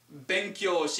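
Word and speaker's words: 勉強: make a website make benkyo that's a long o sound um and it means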